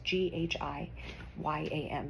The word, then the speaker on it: Guillaume: I'm sorry, I don't know how to pronounce his last name. It's Ghyam.